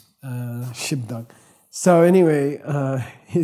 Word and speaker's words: gzhi bdag: So and it's pronounced Shibdak. We pronounce the B, Shibdak.